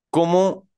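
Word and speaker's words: comment: y la an suena como nasal Oh Fran Fran la s no suena la mayoría de consonantes finales no suenan la mayoría no todas entonces com on en com no suena la t solo Suena hasta la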